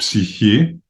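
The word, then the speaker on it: ψυχή: Bill Gasiamis 7:47 So the word psychology was formed by combining the Greek word psych, which in Greek is pronounced psyche meaning breath, principle of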